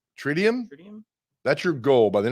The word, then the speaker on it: tritium: Tritium. Tritium? That's your goal. By the end of the show, figure how we pronounce that. It's like lithium.